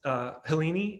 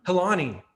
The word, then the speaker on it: Helani: Helene, am I pronouncing that right? I know Rebecca already asked. Helani, thank you.